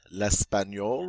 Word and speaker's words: l'espagnol: That GN makes a N sound. L'espagnol.